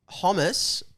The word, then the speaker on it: hummus: Yes, hummus. I think rhymes with Thomas.